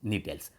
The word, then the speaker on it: Gnetales: Spelling GNE है, GNETALES, नीटेल्स, जिसमें ephedra और नीटम आते हैं।